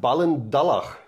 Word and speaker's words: Ballindalloch: Wie wird es Aus ausgesprochen? Ballendallach. Okay, Ballinderloch, sag ich immer.